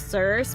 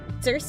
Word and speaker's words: Circe: Circe, I think is how you pronounce her name, Circe. Or Circe. I like Cersei, so I'm gonna go with Cersei. There we go.